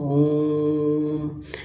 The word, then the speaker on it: ओम: जैसे हम ओम का जाप करते हैं। ओम का उच्चारण करते हैं। तो ओम तो यहां जो ओ है वह दीर्घ ना हो के प्लुत हो जाता है।